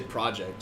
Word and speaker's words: CD Projekt: It's also CD Projekt, but you say project.